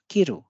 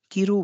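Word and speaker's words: 着る: किरु मतलब काटना। और अगर हम इसको किरु बोले तो ये है पहनना। इसमें रू स्पष्ट रूप से बोला जाएगा, किरु किरु।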